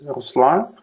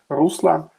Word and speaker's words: Ruslan: So my name is Ruslan. Normally, foreigners prefer calling me like Ruslan. So this they do stress at another syllables.